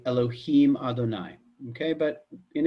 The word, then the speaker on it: Elohim: other what happens is this is pronounced as Elohim okay so if when I